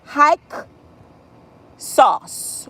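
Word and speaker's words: Hyksos: me about this word I'm going to say it and spell it real loud hike sauce or hike SAU or h y k s o but the Egyptians call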